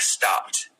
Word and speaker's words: stopped: the Edie so like stopped even though it's read it is written with Edie at the end you use kind of T sound at the end so it's not stop it it's stopped stopped it's not laughs it's